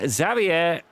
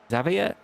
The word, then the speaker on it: Xavier: going on here between Xavier. Xavier. We don't pronounce the R, apparently.